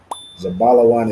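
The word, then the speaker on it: זבולון: Okay, the correct answer is Zabalawan. Zabalawan is Zebulon in the Hebrew.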